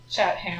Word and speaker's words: Chatham: Um, the stars are a group of five rocky eyelets in the Chatham archipelago, which is funny cuz the street pronounced Chattam. Yeah. Yeah. Chatam.